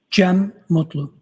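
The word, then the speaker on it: Cem Mutlu: It's C E M. Last name M U T L U. I also spell it uh with a G. GM.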